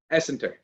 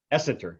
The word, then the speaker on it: Essenter: So what is the correct pronunciation? Essenter. Essenter. So Essenter.